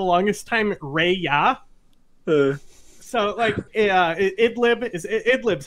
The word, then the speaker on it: Idlib: I pronounced it for the longest time Ray-ya. Idlib is Idlib's how you say it, right?